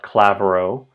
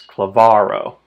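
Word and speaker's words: klavaro: It's not Clavo, it's cleavarro.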